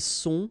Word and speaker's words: sont: Ils sont, final T not pronounced.